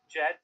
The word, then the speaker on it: DJED: You can go to, I believe, JED, so that's spelled DJED. Remember the D is silent, .xyz.